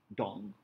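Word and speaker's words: Duong: name DK d D dong yeah Dong Dong dong at ec.edu so there is a prolonged yeah vow in the middle okay good let's go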